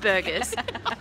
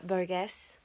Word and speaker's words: Boggess: I'm sure it's not Burgess. Could you imagine if it was? Burger right now. Holy moly, look at these bags. I'm so tired. Just got home from Sierra Boggess, learned how to say it.